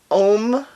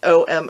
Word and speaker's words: Om: This one is called Om Opal. I was pronouncing it O-M Opal, and somebody explained to me, no, it's supposed to be Om.